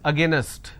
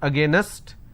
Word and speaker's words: against: Another word, against. Now how do I pronounce this? Against. Now the mistake that you end up doing is you end up pronouncing this as against. It's not against, it's against.